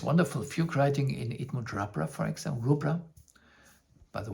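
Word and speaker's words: Rubbra: they interview him and they speak about it rubra so I would prefer rubra but even the daughter of bernard Stevens I spoke with her this she she told me that people speak it pronounce it in a different in different ways.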